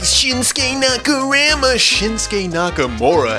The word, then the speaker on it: Shinsuke Nakamura: Number 10 is Shinsuke Nakamura, as he's pronounced correctly.